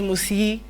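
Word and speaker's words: musyi: pronounce that yes but it is actually written as m-u-s-y-i which is musi so the e is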